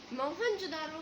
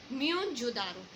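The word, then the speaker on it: Mohenjo-daro: Actually हम जो pronounce करते हैं इसको मोहनजोदारो, बेटा वो इनकरेक्ट है, लेकिन सही इसकी प्रोनाउंसिएशन है म्योनजोदारो. अब बेटा ये जो म्योनजोदारो हमने प्रोनाउंसिएशन किया है ये सिंध में है, सिंधी में इसको कहते हैं म्योनजोदारो, जिसका मतलब होता है माउंट ऑफ डेड.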